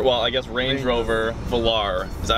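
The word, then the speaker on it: Velar: a Land Rover well I guess Range Rover Valar pronounce it Valar okay so we're here with mark by the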